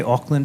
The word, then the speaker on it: Auckland: be here thank you did I say ockland right you did I'm very sensitive about